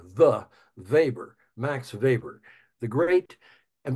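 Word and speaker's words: Weber: the way it's web R even though it's pronounced the vber max vber the great and by the way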